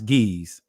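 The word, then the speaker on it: Ge'ez: We confirmed it with a source called Ga'az, which they pronounce geese.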